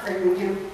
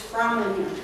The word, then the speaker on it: Framlingham: to be Fring him the man at the castle said no no no no no not Fring him it's froming him so I been mispronouncing